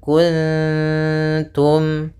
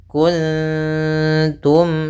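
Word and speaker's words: كنتم: Ah di sini kemudian pada lafal kuntum itu ada nun mati ketemu ta. Maka ini kita namakan dengan bacaan ikhfa. Cara membacanya yaitu suara ee nunnya disamarkan ke ta langsung. ta makhrajnya adalah tadi ya di antara gusi dan gigi ya atau di gusi atas gitu ya.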